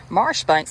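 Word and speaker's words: Marjoribanks: brave commander major john major banks pronounced marsh banks oh been warned the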